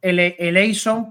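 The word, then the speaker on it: ἐλέησον: Si te das cuenta, todos estos verbos, eleison, bueno, nosotros decimos eleison porque la eta en el griego bizantino, que es como nos ha llegado a nosotros, es como se pronuncia como una I, ¿no?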